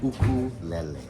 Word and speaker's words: ukulele: Uh, so the way I was taught to say it was ukulele. Yeah. In Hawaii, that's how they pronounce it, you know.